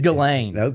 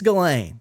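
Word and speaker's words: Ghislaine: think I think it's galain I'm pretty sure it's just galain I think the S is silent i' like read so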